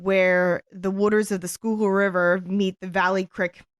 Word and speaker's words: Schuylkill: that was located where the waters of the Schuylkill River meet the Valley Creek.